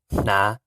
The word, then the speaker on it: hnav: And then Hnav, which is Na, Na, Na, which means to wear.